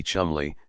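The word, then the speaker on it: Cholmondeley: air should be air Cole Mandy should be Chumley St John San beum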